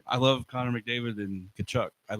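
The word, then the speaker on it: Tkachuk: Silent T. I always tell people, "Hey, how do you spell Kachuk?" They start to see. I'm like, wrong. It's TK.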